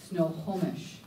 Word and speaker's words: Snohomish: it's a from the we pronounce it correctly Snohomish and they're in the